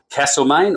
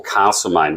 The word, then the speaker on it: Castlemaine: thanks for joining us castlemaine or castlemaine what's the correct pronunciation I've always said Castle mate I've been to the theater castlemain and that they insisted Castle it is castlemaine okay now what sort